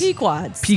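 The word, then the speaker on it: Pequod's: So, the the one Chris gave us was I'm not even going to try and pronounce it, but it's like puads. It's Pquads.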